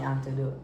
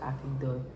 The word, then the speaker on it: anecdote: So, that's like kind of like a funny antidote. An aneote. Anecdote.